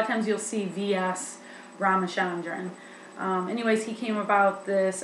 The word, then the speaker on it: Ramachandran: name but it's um villa yanner s ramachandran ramachandran i did hear that in the videos i'm pretty sure that's roughly how you say it a lot of times you'll see vs ramachandran anyways he came about